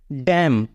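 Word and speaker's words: damn: क्या है एम है इसलिए इसको हम बोलेंगे डैम डैम मींस धि का तो हमारा स्पेलिंग रूल यही कह रहा है कि शब्द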